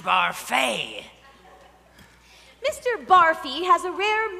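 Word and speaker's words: Barfée: Barfy. It's pronounced Barfay.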